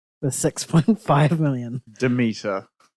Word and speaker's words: Demeter: And Dracula, The Last Voyage of the Dementor with 6.5 million. Demeter. Oh, did I say Dementor?